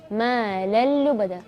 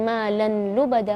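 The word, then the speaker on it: مَالًا لُّبَدًا: Ma lallu bada, bukan ma lan lubada, bukan, tapi ma lallu bada. Atau bacanya misalnya ma lan lubada, itu salah.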